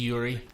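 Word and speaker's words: yūrei: called something called the your eye or ghost yeah yeah and I've heard of pronouncing Yuri Yuri okay yeah that's that's probably better like God thank God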